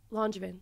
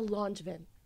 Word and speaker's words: Langevin: Langevin.